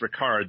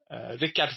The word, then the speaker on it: Rikard: Your name is Ricard. That is the right pronunciation?